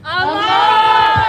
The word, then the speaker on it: Amar: raise the bar, and his name just so happens to rhyme with raising the bar, and it's Amar!